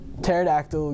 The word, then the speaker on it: pterodactyl: couldn't you hear the pterodactyl go to the bathroom because the PE is silent have a great day